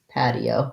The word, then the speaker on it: patio: open f path so just like the word pad pid pad and then the eo is two syllable so pad e o pad patio with first syllable stress patio um that was